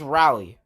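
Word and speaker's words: Raleigh: is not completely made out of ice it's pronounced rally North Carolina and then there's Madison Wisconsin and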